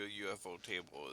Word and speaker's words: ufotable: Studio UFO table is this is their bag. Oh, that's how you say it. Some say ufotable. That's what I was saying. I was I usually go UFO table.